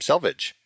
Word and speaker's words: Selvig: what it is and I think that's how you pronounce his last name Salvage you reached oh said it Selvig as well I right yeah I I don't know anyone who's ever said Salvage I feel like is